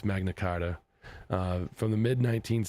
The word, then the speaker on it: Magna Carta: from the times of Magna Carter. Magna, why is it spelled like that? Times of Magna Carter Charter Charter. Anyways, to the midnight I know it's Magna Carta uh from the mid